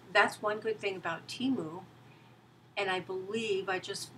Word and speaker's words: Temu: said that she has learned that the correct pronunciation is Teemu after all I think so many of us